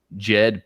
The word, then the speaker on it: Djed: Yeah, Isis and kept when you look into Ptah, and he had what was known as the Jed pillar. Now this is spelled Djed because they were Jedis, right?